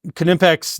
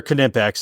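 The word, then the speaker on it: Knipex: like that's not how you don't say the K and then we're like actually you do the Germans do and these are German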